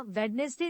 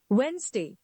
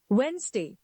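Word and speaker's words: Wednesday: of commonest miss pronounce English words हम इसका उच्चारण वेनसडे या वेडनेसडे नहीं करते इसका सही उच्चारण है वेनसडे वेनसडे another word is February many people drop the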